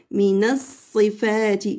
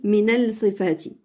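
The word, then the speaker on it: مِنَ الصِّفَاتِ: Minas sifati. J'ai pas dit minal sifati. Il y en a qui prononcent comme ça, alors c'est faux.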